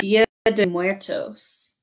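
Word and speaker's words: Día de Muertos: Day of the Dead, which actually pronounced Dia de Muertos.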